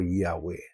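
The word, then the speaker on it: Yahweh: to his people uh it could be pronounced as Jehovah or Yahwe.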